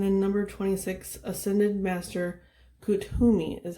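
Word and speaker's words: Kuthumi: drink okay and then number 26 ascended master kuttumi is how you pronounce it i looked it up akutumi and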